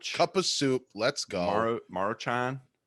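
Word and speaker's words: Maruchan: of soup let's go marochan is how you say that yeah march on yep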